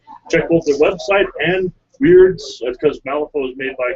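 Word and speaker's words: Wyrd: So have fun, get your hobby on, and possibly win some cool swag from Weird. Weird is spelled with a Y, by the way.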